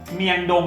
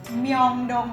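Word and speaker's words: 명동: ใช่ มายอน นะ เมยอน เช่น เดียว กับ ย่าน ดัง อ่ะ เมียงดง เนี่ย ไม่ มี นะ ใน เกาหลี ไม่ มี เมียงดง นะ มี แต่ เมองดง เมยองดง ถูก เห็น มั้ย ครับ มัน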